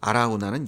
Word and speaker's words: 아라우나: 그래서 오르난은 히브리식 발음이고요. 아라우나는 여부스식 발음입니다.